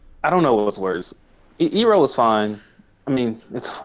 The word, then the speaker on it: Iroh: That's what happened with Iroh. Chantal was like, but it's Iro. And then he's like, yeah, you're right.